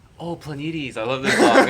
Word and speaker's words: Planetes: Planetes. Wait, there's a song called Planets. How do you pronounce it?